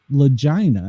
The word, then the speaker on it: Lagina: And the author of the book is called Vic Lagina. And I am pronouncing it correctly there.